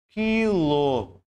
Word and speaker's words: quilo: vai contar como dígrafo é o caso da palavra quilo eu não pronuncio esse U aqui portanto eu entendo que